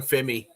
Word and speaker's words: Femi: Oh, I just I keep calling him Fimmyi. I just call him Fimmy. Femi works. That's what they called him on the phone.